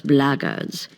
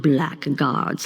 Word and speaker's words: blackguard: If you're another one of those blackguards, and that's the way to pronounce it, not blackguards like that thug insisted it was, then my answer is the same.